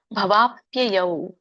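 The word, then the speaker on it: ಭವಾಪ್ಯಯೌ: ತತ್ತ ಕಮಲಪತ್ರಾಕ್ಷ ಮಹಾತ್ಮಪಿ ಚಾವ್ಯಯಂ ಇದರ ಒಂದು ಉಚ್ಚಾರಣೆ ಭವಾಪ್ಯಯವ ಬಿಡಿಸಿದಾಗ ಭವ ಅಪ್ಯಯೌ ಅಂತ ಹೇಳ್ತಾರೆ ಭವಾಪ್ಯಯವ ಕೂಡಿ ಹೇಳಿ ಹಿಭೂತಾನಂ ಶರುತ್ವವ ಶುತ್ವ ತಕೆ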